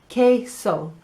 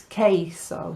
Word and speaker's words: queso: Cheese is queso. Never go with a q sound, okay? It's queso. So think of a woman called Kay who is really cheesy. Queso cheesy, okay?